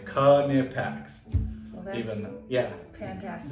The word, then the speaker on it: Knipex: The phonetical pronunciation. Mhm. It's Knipex.